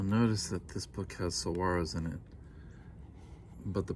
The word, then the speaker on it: saguaro: a trip you'll notice that this book has saguaros in it but the pronunciation key in the book is incorrect saguaro not saguaro where were we in early spring